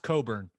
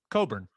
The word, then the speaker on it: Cockburn: last name spelled no it's pronounced coburn but it's spelled c-o-c-k-b-u-r-n coburn once again c-o-c-k b-u-r-n